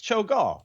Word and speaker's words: Cho'gall: It's spelled CHO apostrophe GALL, and I never say GALL as gal. That's always Gall, right? Yeah. It's Cho'gall.